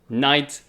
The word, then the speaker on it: knight: swords and lances um so knight if you know is spelt k yeah k it begins with k but the pronunciation is knight so it's k n i g h t and you see that k and that g and that h it has like basically no meaning you see knight um